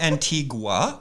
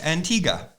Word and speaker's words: Antigua: It's not Antigua, it's Antigua. Yes. I mean, we accept them both, but to be correct verbally and audibly, Antigua is the proper pronunciation.